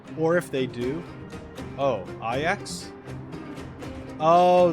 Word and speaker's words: Ajax: Oh, Ajax? Oh, the J makes, like, the Y sound for this? Okay. Ajax.